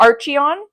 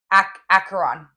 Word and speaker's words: Acheron: What is it? Archeon? Acheron. That makes more sense.